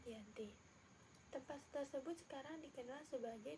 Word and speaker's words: Giyanti: Nama Giyanti sendiri diambil dari lokasi penandatanganan perjanjian, yakni di Desa Janti. Dalam pelafalan Belanda sebagai Iyanti dan secara tertulis terbaca sebagai Giyanti.